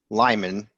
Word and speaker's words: Limon: Limon for us is in Spanish. It's lemon.